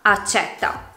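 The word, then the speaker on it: accètta: Per esempio, con la E chiusa si pronuncia la parola accetta, mentre con la E aperta diventa accetta.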